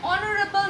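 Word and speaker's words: honorable: তারপরটা দেখো, অ্যান অনারেবল ম্যান, যেটাতেও আমরা ও উচ্চারণ করি, এইচ করি না, তাই জন্য we have used an before অনারেবল।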